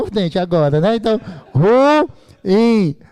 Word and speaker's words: ruim: É ruim ou é ruim? São duas vogais. Isso aqui é um hiato. A pronúncia correta é ruim.